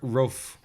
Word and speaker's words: Rofe: Mark Rofe, I think it's pronounced that, R-O-F-E, took the drastic measure after becoming fed up with online dating and seeing all his close friends get married.